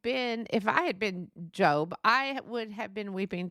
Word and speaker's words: Job: and I know that it looks like his pronunciation is job but it's pronounced job j o b e uh now the meaning